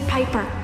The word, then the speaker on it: Piper: change today amanda bynes the name's piper rhymes with viper and robin williams i'd